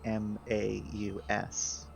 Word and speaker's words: Maus: So you could just spell it funny, but make it still be mouse, I guess. Like Maus. M-A-U-S.